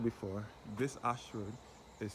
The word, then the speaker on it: Ayshford: As I said before, this Ashford is spelled A Y S H F F O R D.